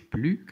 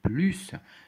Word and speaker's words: plus: هنا كنطقو s، كنقولوش plus، كنقولو plus de chance que mon adversaire.